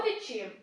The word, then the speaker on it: відчим: на другому складі або відчим це другий батько тож наголошуємой другий склад логічно А ще є